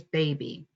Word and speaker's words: baby: Anytime the Y is at the end of a longer word, more than 2 syllables or more, the Y says its second long sound, which is E. It doesn't say I, it says E. So this word is baby.